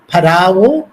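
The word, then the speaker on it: फ़राओ: फराओ, या जिसे उच्चारण में फेरो भी कहा जाता है, ये मिस्र की संस्कृति का राजनीतिक और धार्मिक इतिहास अपने में समेटे हुए है।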